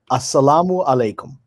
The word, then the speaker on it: Assalamu alaikum: Assalamu alaikum.